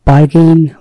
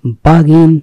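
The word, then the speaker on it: bargain: বার্গেন, বার্গেনিং, আসলে এর উচ্চারণ হচ্ছে বাগিন, বার্গেনিং, বাগিন মানে দরকষাকষি করা, চুক্তি করা, দামাদামি করা, দরদাম করা।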